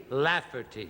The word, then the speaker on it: Lafferty: Very easy. 3 syllables. La, fur, T. Lafferty.